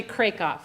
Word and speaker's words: Krakoff: only one who has mispronounced my last name for years it's actually Craig off and now you can